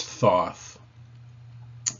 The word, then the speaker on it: Thoth: nature of Egyptian deities his Egyptian name is pronounced probably something like thoughit although we referred to him as as Thoth in modern usage he was worshiped at